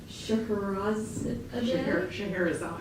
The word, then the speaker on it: Scheherazade: And then we have 2 drag queens, Miss Collins, and we just looked up how to pronounce this, but it's Scheherazade.